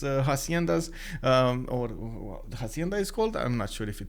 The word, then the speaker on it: hacienda: go with it um the h is silent oh wait hacienda you mean that's how i should have said that it's hacienda japan is in banana